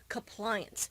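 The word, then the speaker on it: Cuppliance: a cup of compliance it's spelled c u p p l i a an C so it's not compliance like the word but it's compliance you have to drink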